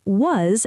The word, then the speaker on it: was: So was has a short ah sound, like in cat, was.